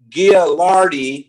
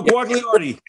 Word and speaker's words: Guagliardi: James and Marissa, a couple, Gialardi, they'll tell me how to pronounce it properly. No, Guagliardi. That's good.